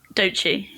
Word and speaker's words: Doechii: Can you help me with the pronunciation? Is it Doechii? Doechii.